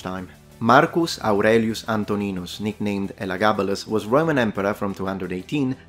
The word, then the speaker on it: Elagabalus: you who love Latin I will pronounce now the nickname of the emperor once within the correct reconstructed pronunciation in Latin elagabalus foric vent expressed now